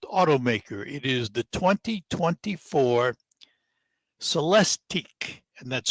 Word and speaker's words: Celestiq: of world's finest automaker it is the 2024 celesteak and that's spelled c-e-l-e-s-t-i -q so let's dig if you've